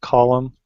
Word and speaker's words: Colum: Today we have with us, is it pronounced Colum?